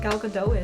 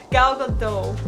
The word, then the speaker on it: Gal Gadot: Gal Gadot, right? Is that how you say it, or is it Gal Gadot? Gal Gadot. Gal Gadot.